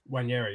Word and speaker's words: Nwaneri: And how do you pronounce my man's name? Nwaneri, yeah.